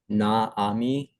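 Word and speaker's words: נעמי: See how I'll tell you, folks, you Gentiles don't know how to pronounce the Hebrew. That's the problem. Okay, let's go on. Naami. Naami. Is that Naomi?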